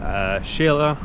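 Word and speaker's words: Xela: my first bicycling video from the border to Shayla or quetzaltenango as its pronounced on the map yeah so wait wait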